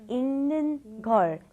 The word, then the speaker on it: 읽는 걸: Be very careful with the pronunciation. You want to think of it as saying this right here. ing, okay? ing, like ing in English, okay? 읽는 걸, 읽는 걸, 읽는 걸, 읽는 걸.